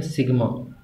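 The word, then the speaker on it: sigma: बेटा ये जो मैंने वर्ड इस तरह से लिखा है इसको प्रोनाउंस करते हैं सिग्मा, और ये यूज़ होता है सम के लिए।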